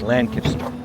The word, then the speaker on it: Lancaster: now in downtown Lancaster you don't say Lancaster it's lanaster is that how you say it Lancaster Lancaster not Lancaster that's what we've been told and we're going to